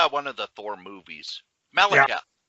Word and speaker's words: Malekith: Michalith? Honeyhole? I have to actually see it. Yeah. It's one of those where he was in one of the Thor movies. Malekith. Yeah. Malekith.